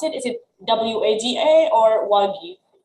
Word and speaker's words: WAGI: How we pronounce it? Is it WAGA or WAGI? WAGI.